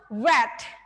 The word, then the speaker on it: read: For verb 2 and also verb 3, you have to pronounce read. Read, okay? Not read. Memang sih tulisannya sama ya, tapi di sini ada perbedaan cara melafalkannya. There is a difference here between the pronunciation itself.